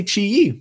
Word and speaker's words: Qi Yi: you pronounce Qi Yi so I say Chi E because I think I actually asked Chi directly and they said that um there's a lot